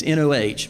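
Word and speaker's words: Noh: The answer is no, as N-O-H, no, is how that's pronounced, is the 3 traditional forms of Japanese theater.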